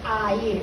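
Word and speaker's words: ἀήρ: a y r ea se escribe como si fuera en inglés pero al decirlo en griego se dice a ir es un Alfa y tarro Por consiguiente es a ir la pronunciación en griego en griego el Air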